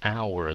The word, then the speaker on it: hour: An hour tại vì cái âm h nó câm cho nên không có phát âm h, right?